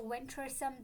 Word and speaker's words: venturesome: The pronunciation like the stress is on the first syllable which is wisome.